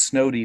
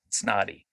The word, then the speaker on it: Snoddy: that's a it's it's a line over the o that makes it a long o sound so it's snowy not snotty okay some people always